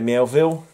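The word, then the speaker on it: Miéville: This is by the writer China Mielville. Mielville, I always pronounce it wrong. I put an extra L into it.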